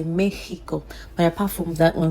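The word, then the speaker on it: México: We do have some exceptions like Mexico. They do not say Mexico. Okay. For that they say it in a different way. They say it as if the X is her sound. They will use the her sound for the X. So in that case they will say Mexico.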